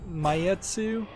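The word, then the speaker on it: Maitetsu: oh here's a game I haven't heard of mayetsu it's spelled m-a-i-t-e-t-s-u pure station is launching July 26th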